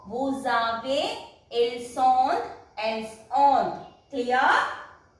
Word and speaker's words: vous avez: Then vous avez. This is also here again S is followed by a vowel, so it will pronounce as vous avez.